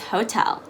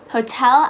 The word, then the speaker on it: hotel: first word is hotel hotel actually has a soft t like that's sound that we talked about in our t turns into d video we're actually not going to turn it into a d this time we're going to keep it as a t so it's going to be hotel not hotel um this is something